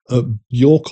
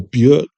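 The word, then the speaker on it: Björk: About three quarters of this is fronted by Buork or Buick, however uh you like to pronounce it. I think it's technically Buork.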